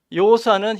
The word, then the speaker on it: 여호수아: 안식의 상징에 불과하다는 것입니다 여호수아 여호수아는 히브리식 발음입니다 여호수아를 헬라식 발음으로 발음하면